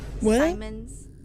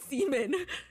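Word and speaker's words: Siemens: There is um the Seammens Simons the refrigerator company. She's Why do you look at me like I was crazy when I said Semen?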